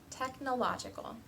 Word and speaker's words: technological: syllables take the word technological for example there's two stresses the stress is on te and law technological in those cases usually